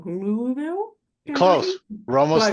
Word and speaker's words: Louisville: for pronouncing it wrong, Louisville, Close. Kentucky. We're almost Close. there. I always say Louisville and he's like, it's entirely wrong.